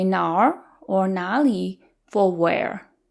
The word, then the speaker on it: 哪儿: 哪儿 is technically two characters, 哪 and r. We merge them together into 哪儿.